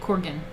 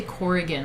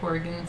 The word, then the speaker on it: Corgan: how you say it corgan i always say corrigan like there's an eye in there corian uh well i